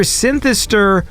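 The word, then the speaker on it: Snthsr: so no vowels yeah so when I first saw it I'm like this is either synister or synar cuz I can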